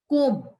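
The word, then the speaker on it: comb: इसमें जी साइलेंट है कोम इसमें बी नेम कोम ऐसे नहीं बोलते कोम तो बी साइलेंट नाइफ के साइलेंट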